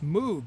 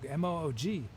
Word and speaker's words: Moog: all these amazing synthesizers i always thought it was mood because it looks like moog m-o-o-g but then i i saw an interview with him and he pronounced it and it was pronounced moog the peshmerg okay let's